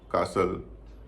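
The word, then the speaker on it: castle: उच्चर नहीं होता बिसल कासल इन सब में भी टी का उचार नहीं होता विसल अपोल चेस्टनट मॉर्गेज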